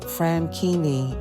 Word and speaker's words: Franchini: Blue Gi and Celid Franini, as they pronounced it in Italy, were from Luca, Italy, a Tuscanyany town near the northwestern coast of Italy by the city of Pisa.